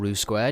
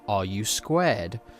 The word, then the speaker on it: RU²: pronounced r u squ as in the question are you squared so let's just jump